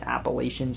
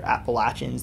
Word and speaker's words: Appalachians: gap in the mountainous appalachians or appalachians that pronunciation really depends on where you live it's long been a